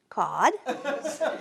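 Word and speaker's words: cord: is it's got no cod percy says that's okay i got no electricity cod a delicious white flesh salt water fish great for chowder a measurement for wood spelled c-o-r-d but pronounced cod it's four feet by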